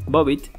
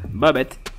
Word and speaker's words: Bobbit: nombre asumiré que sí su nombre bobbit o bueno pronunciado en inglés bobet o algo así se lo dio un